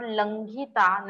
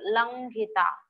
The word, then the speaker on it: लङ्घिता: that is last word langhita. Nasal consonant has been used here. K, kh, g, gh, ng. Ng has been used here with a gh, so you have to pronounce it as langhita.